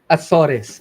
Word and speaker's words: Azores: Azores.